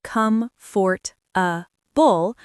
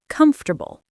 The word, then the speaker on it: comfortable: Yes, everyone thinks it should be come for a bull, but native speakers say comfortable.